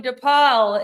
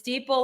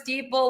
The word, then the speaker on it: Dipal: I've been saying your name wrong. I've been calling you Dipal. It's Dipal like people.